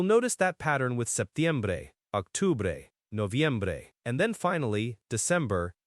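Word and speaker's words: octubre: Octore. O C T U B R E Octore Octore. Okay. Octore looks very similar to October. The C here is like a K sound.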